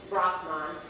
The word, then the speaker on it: Brahman: So, the Hindu divine, the Hindu God, also known, as you're aware now, as Brahman, and the actual Sanskrit way to pronounce this is Brahman.